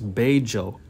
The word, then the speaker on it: Bello: And the word Bejo, it's pronounced, with the Medellin accent, how they talk, they pronounce double L's as a J sound. Like it's lloviendo, means it's raining, but that's L-L-O-V, but it's Joe, like the name Joe.